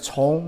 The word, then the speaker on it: 从: It's pronounced as 从 means follow.